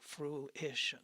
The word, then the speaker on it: fruition: book come to fruition that's a big word fruition three syllables I'm working I'm building